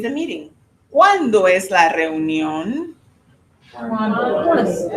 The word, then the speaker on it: reunión: Reunión, tricky word. You see a lot of vowels together. So let's kind of back into it. So from the back, or from the end of the word, the last sound, the syllable, on, On. ion, Ion. neon, Neon. union, Union. reunión.